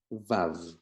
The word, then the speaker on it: Vav: It's actually pronounced and it sounds like a V in English, and the word is Vav.